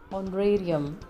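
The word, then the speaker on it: honorarium: Acknowledgement, नियोक्ता, employer, मानदेय, ऑनरेरियम, एच is silent here, न्यायाधिकार क्षेत्र, जुरिस्डिक्शन, संसद, पार्लियामेंट, संविधान, कॉन्स्टिट्यूशन, राजतंत्र, मोनार्की, प्रजातंत्र, डेमोक्रेसी, लोकतंत्र, विधायिका, लेजिस्लेचर, कार्यपालिका, एग्जीक्यूटिव।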